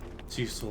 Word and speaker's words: Cecil: It was the same way with Cecil Harvey from Final Fantasy IV. And then come to find out later, actually, it's pronounced Cecil. And it just does not sound right to my ears.